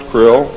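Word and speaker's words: Krlll: his name and title was his omnipotent - krill pronounced krill spelled KR l ll r CR ll L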